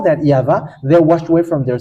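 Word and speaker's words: יהוה: of tat which says that we call it yava and how that's how we read is in heaven of heavens yava and those who call that yava they washed away from their sin and they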